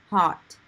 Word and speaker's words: heart: Okay, so big, I would say big heart, heart, heart. Heart. So I don't really say the R part, big heart.